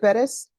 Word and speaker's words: Bettis: Oh, My name, my last name, if you pronounce it correct. oh, how, is it Bettis?